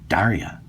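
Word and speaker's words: Darja: Now, this particular Bulgarian Makarov has a lot in common with my oldest daughter, Daria. Okay? And by the way, Daria is spelled D-A-R-J-A, just like the European spelling.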